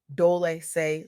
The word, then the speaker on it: Dolce: I'm your host, Dolce, pronounced Dole say like sweet softness whispered in French.